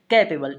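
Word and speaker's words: capable: इसका हिंदी उच्चारण जो होता है, ध्यान रखेंगे क्या होता है? कैपेबल।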